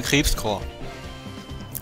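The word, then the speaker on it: Krebscorps: Geschrieben wird Krebskorps. Ausgesprochen im Anime wird es immer Krebskorps. Ohne PS.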